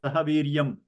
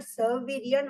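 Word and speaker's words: sahavīryaṁ: That is, if you keep the words separate without joining the sandhi, then it's sahaviryam. Okay. The anuswara on top, sahaviryam. Okay. But I have heard sahaviryan also. So I just that is because they are making the sandhi. Because anuswara, I said anuswara changes depending on what follows. Okay. If what follows is a ka sound, then the anuswara will be pronounced as nga, sahaviryam karava, just like Śāṅkara.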